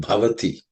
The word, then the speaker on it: bhavati: terms of pronunciation um the only word which has some aspirated consonant is the word bhavati the B is the